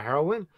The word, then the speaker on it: heroine: found out that apparently the pronunciation of the drug and the female protagonist is the same way and i was like